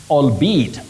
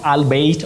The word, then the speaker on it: albeit: epitomy not epitom and you say albe albeat not albeit of the spelling we